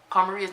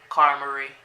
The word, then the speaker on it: Carmaria: And then plus, he can't even say her name right. He goes, Carmarie. It's Carmaria, Nelson. If you're gonna say her name, at least say it right.